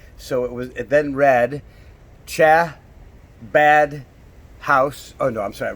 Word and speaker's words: Chabad: who have heard of Chabad House it's spelled CH a BA D and you actually have to give that CH sound Chabad so it's not really Shabbat and it's not how bad but how about like